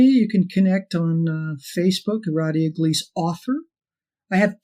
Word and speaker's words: Radhia: They always want to throw that H everywhere. They always do. It's RAD, like rad. Radhia. Radhia.